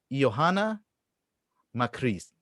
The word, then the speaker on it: Joanna Makris: it's a difficult one it's three vowels in the row e oh anna i mean not even